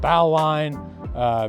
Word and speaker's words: bowline: It's spelled Bowline. It's pronounced bowline.